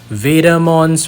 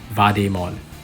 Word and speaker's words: Vademon: So being part of invader, we should pronounce Vademon as Vademon. All right, that's the theory anyway.